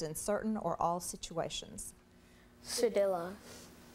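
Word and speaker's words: cedilla: continue here one more sadilla sadilla sadilla can I have the language of origin this word is from a word that went from Latin to Spanish sadilla are there any alternate pronunciations sedilla sedilla oh stop it's also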